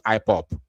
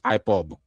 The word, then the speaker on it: IPOB: here to tell us IPOP. Who are you deceiving? IPOP. I I normally hear that from the people from maybe Eurobas or Northerners. IPOP. Even politicians know how to pronounce IPOB.